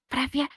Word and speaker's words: Привет: Okay, it's a Привет.